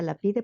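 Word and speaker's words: Lapide: Eh, por otro lado, el libro de Frank y Pinchas Lapid o la pide, ¿verdad? que bueno, algún alguien me decía, aquí se se pronuncia la pide porque estamos en México.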